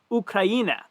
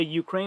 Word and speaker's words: Ukraina: they were chanting, and they pronounced it Ukraina. So I'm going to pronounce things like people from that country say is the right way to pronounce it. So I won't say Ukraine, I'll say Ukraina.